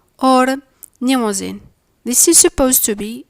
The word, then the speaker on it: Mnemosyne: The nasal M is silent before the nasal N, and the N sound is silent after the M sound.